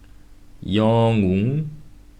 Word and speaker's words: 영웅: However, when 이응 are written in the bottom, it will be pronounced as the ng sound, the nasal noise. For example, 이응, 영웅, 엉덩이. When all these bottom consonants